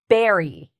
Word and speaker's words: berry: We have our lip sound, berry, berry. Do you see that? There's no teeth with the B sound.